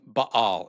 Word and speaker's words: Baal: Try saying baal instead of bale.